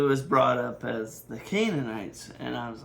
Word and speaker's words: Canaanites: It's supposed to be Canaanites. But that's not going to stop me. I'm going to continue saying Canonites because that's just that is how I want to pronounce that I I like canonites.